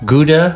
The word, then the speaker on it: Gouda: cheeses, hard cheeses especially, Gouda cheese or Gouda cheese is how the Dutch pronounce it, Jarlsberg cheese, Emmentaler cheese,